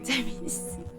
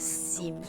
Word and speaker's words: Semes: Semes, like no, it's not seams, right? It's like semes.